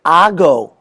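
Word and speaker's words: hago: for the verb acer the answer is ago h-a-g-o number two this is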